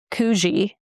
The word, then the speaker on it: Coogi: all kindly told me in the comments, it's pronounced Coogi. So Coogi, I believe.